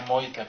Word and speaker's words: Mojca: Sí, otra cosa del español, que su nombre se pronuncia Mojca, porque en esloveno las J son I.